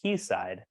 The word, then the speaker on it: quayside: interesting fact yes uh quayside is actually pronounced keyside uh it's like an Old English term and uh I always